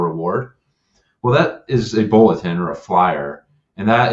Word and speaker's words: BLTN: Yeah, so we are building a information sharing platform that's called Bulletin. We spell it BLTN because if you're a tech company, you have to remove letters to make things exciting and interesting.